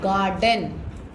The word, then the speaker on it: garden: Now garden. GARDEN. GAR. Gar. DENDEN. R is silent. Garden. We will not say. We say garden.